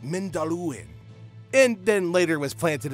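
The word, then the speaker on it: Mindolluin: The amount of times that I've pronounced it as the Mandalorian Mountain is ridiculous, y'all. Anyway, so it was discovered on Mount Mindalluin, and then later was planted in the court of the fountain.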